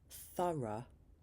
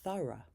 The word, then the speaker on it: thorough: Number seven is the schwa uh uh in the word thorough. Thor. The last four letters become uh like in the end of the word teacher.